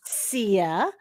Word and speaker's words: Syya: Sia. And the last name, you were so close. You were so close. It's spelled phonetically.